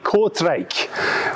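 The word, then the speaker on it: Kortrijk: riley gets the points it is indeed kv cortraich which is the correct pronunciation apparently in flemish i hope that's correct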